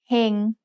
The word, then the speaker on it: เฮง: Here's the word เฮง which means to be fortunate. Do you know the tone? เฮง has a low-class consonant with a live syllable ending, so it's mid-tone.